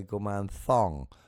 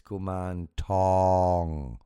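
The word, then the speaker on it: Kuman Thong: to refine that that if you spell it with th you're going to say gum thong as if you're wearing a sexy thong and that's not Right. It's gum tong with a t.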